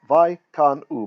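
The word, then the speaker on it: וַיְקַנְאוּ: And what follows in the next clause, Vaikanu oto Pelishtim, and it's Vaikanu. Both schwas are silent because they're ending the syllable, right? Ending the syllable with short vowels in them.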